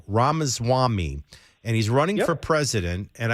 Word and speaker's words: Ramaswamy: I don't want to say his name wrong. Ramaswamy.